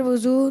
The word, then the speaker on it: وضو: اکثر نکلتے ہیں، تو لیکن صحیح تلفظ ہے واو پر پیش ہے، جسے دمہ کہتے ہیں، وضو یہی صحیح تلفظ ہے، اور اسی کو